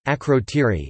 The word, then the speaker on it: Ακρωτήρι: Akrotiri (Greek: Akrotiri, pronounced Greek: Akrotiri) is a Minoan Bronze Age settlement on the volcanic Greek island of Santorini, Thera.